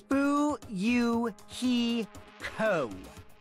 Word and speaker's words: Fuyuhiko: last name is my first name is pronounced boo you he co i'm still an inexperienced member of my family's